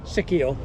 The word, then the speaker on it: Sicchio: Sicchio.